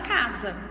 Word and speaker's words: casa: Como nós vimos, gente, a letra S, quando ela está entre duas vogais, ela tem o som da letra Z, como na palavra casa.